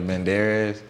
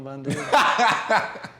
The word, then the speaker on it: Banderas: Assassins with Sylvester Stallone and Antonio Banderas.